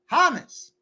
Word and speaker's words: James: Trisha M says J-Rod is James, pronounced Hamas.